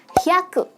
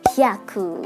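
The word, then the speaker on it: 百: Cara bacanya adalah hyaku. Haku yang artinya 100. Dan 100 dalam bahasa Jepang juga sama dengan cara bacanya yaitu hyaku ya.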